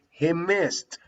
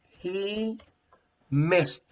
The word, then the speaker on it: missed: think missed me he missed he missed the class in this case this is pronounced like a final t because there is no vibration of our coach here